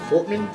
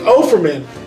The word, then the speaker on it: Offerman: And I feel like that's why Nick Fortman, I can't pronounce his fucking name. Offerman? Offerman! There you go. Nick Offerman.